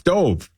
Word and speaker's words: Dov: It's D-O-V. That's Dove. Right? Dove Kleiman. Dude. What? Come on. Dove. How else do you say it? Could it possibly be Dove?